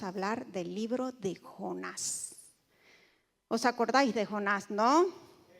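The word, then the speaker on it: יונה: Dice, "Él nació en una localidad Galilea y su nombre en hebreo se pronuncia Joná.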